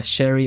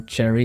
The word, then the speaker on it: cherry: It would not be too uncommon for Swedes to say check something out instead of check. Check it out. I think, yeah, sherry or cherry, yeah.